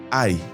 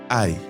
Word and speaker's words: 爱: Ce mot se dit aï. Aï. Donc le mot aimé en chinois se dit aï et il se prononce au 4e tome. Donc tu le prononces de façon sèche et rapide.